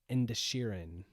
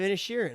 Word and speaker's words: Inisherin: I'm going to get in trouble for not pronouncing it correctly, but it's the Banshees of Insherin. Is a D in it? INISHERIN. Yeah, see, the Banshees of Insherin.